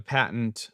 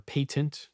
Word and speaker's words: patent: know if they have a patent uh or a patent depending on how you like to pronounce it uh but it's it's